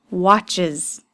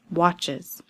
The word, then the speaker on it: watches: Is it an S sound, a Z sound, or ES sound at the end? He watches TV. It's that IZ sound at the end. Why? Because it ends with a CH ch sound.